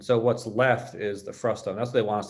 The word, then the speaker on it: frustum: It's often mispronounced even by myself very regularly as frustrum, but it's not, it's frustum.